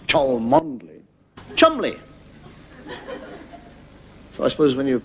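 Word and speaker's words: Cholmondeley: it's your gonna name like Cheol monthly no pronounce tall mod Lee Chumlee I suppose when you have pronounced bottom Lee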